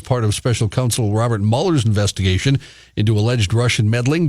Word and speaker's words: Mueller: I don't like the way he pronounces his name. It should be Mueller.